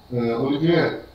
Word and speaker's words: Olivier: Olivier, é isso mesmo a pronúncia, né? Olivier, né?